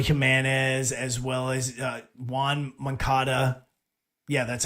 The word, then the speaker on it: Moncada: White Sox right now are leading the AL Central, and they did it by bringing up Eloy Jimenez as well as Juan Moncada.